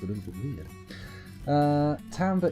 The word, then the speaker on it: timbre: Timbre is how the music professors pronounced it in my classes.